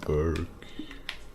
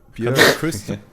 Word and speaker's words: Björk: Burke, in the morning, the ring of Burke. So, jetzt haben wir endlich wieder... Das war doch so eine Sängerin gewesen, Burke, oder? Burke? Björk.